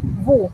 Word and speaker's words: vous: Entonces, segunda persona del plural, que sería vosotros o ustedes, eso se pronuncia vous, igual, sin la S. Vous.